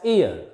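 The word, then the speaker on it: heir: Here, this H is silent, is not pronounced. It is pronounced as ear.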